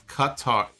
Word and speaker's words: Qatar: It's Qatar.